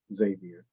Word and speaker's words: Xavier: of my first name my name is Xavier I'm saying that because